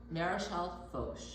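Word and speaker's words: Maréchal Foch: It's Marechal Foch, okay?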